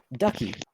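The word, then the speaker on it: Duchie: okay it is the town of uh ducky ducky yup ducky i like this place town of ducky or the city of ducky um it is spelt with a uh it's d-u-c-h-i-e douchey i'm gonna like walk around just calling it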